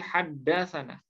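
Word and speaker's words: حدثنا: Jika Anda menemukan kata 'thana', Anda tidak boleh membacanya sebagai 'thana', melainkan sebagai 'haddathana' .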